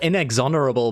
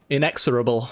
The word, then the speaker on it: inexorable: card inexilable i i i call it inexonerable but there's no n in it inexorable i guess is the correct pronunciation of that one either way i'm sure